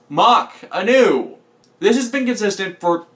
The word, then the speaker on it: Mac Anu: then we'll meet in Mac Anu at 10 Mach Anu it is pronounced mock Anu this has been consistent